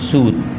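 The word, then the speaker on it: صوت: बोल रहा था इसमें सूत शर्म आनी चाहिए जब आपको सही से उच्चारण नहीं आता है तल फुज नहीं होता है तो आपको नहीं पढ़ाना चाहिए इसमें सूत नहीं है इसमें सौत है इसमें है इसमें मसूल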